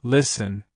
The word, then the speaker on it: listen: For example, listen, castle, and whistle all have silent T or silent S.